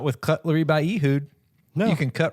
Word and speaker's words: Ehud: Not with Cutlery by Ehud.